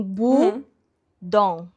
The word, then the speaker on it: Bodom: Eu falei como que pronuncia Lake Bom infinish, né? E daí tava assim, bu dom.